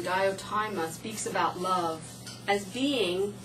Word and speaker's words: Diotima: In Plato's Symposium, I believe you pronounce her name, Diotima, speaks about love as being between the mortal and immortal, an intermediary between gods and men.